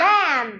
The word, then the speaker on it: lamb: together B is silent B is silent come come come th th lamb lamb lamb lamb k n k or